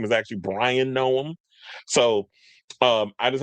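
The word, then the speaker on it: Bryon: I called him Byron which I just did. His name is Brian. B R Y O N.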